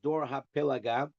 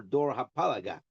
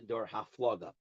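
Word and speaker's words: דור הפלגה: Now, It's really should be pronounced Dor HaPelaga or Dor HaPalaga. But in the Yeshivish world, we call this generation the Dor HaFloga, which is grammatically incorrect. But we're going to say it anyway.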